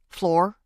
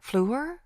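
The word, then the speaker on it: Fleur: Floor. It's pronounced flu, French for flower.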